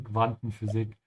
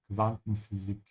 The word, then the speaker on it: Quantenphysik: Ich hasse Quantenphysik. Make sure to pronounce the U here like a soft V sound because it comes after a Q. Quantenphysik.